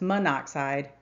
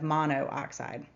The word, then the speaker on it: monoxide: So we drop the O at the end of the prefix and simply call this monoxide instead of mono oxide.